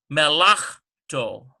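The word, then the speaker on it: מלאכתו: That's where we get me, la, melachto, melachto. That's how that is. Melachto. And so under here, this chaf is silent. So the mem, underneath the mem is vocal, underneath the chaf is silent.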